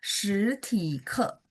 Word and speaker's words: 实体课: 实体 Ke, 课， jadi 课课，体nya harus TH sebenarnya. 实体课实体课， boleh sekali. 实 Iya 体 betul 课。 ya. Jadi T bacanya TH.